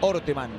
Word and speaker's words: Orteman: Aclaramos que se pronuncia Orteman.